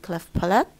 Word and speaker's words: cleft palate: خلاص مش هننطق التي. cleft palate.